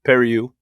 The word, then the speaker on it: Periu: It's Periu. He's Cuban. I think he pronounces it obviously better than I would in the deal, but I hope so.